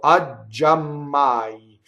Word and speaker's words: giammai: So the interjection, is a strong monosyllable, causing the j of ggiammai to double, right? So ggiammai. So we have to stop twice, both on the G and on the M.